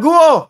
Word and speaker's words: Guo: y Mark Mayor go ang ang pronunciation yung you is silent you yon Mayor guo Okay guo na lang